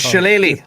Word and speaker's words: Shillelagh: I don't know if that's how you pronounce that. Shillelagh or Shillelagh? I don't know. It's Shillelagh.